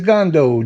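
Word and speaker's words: Gondo: name is my last name is gando g-o-n-d-o better please hello can you hear me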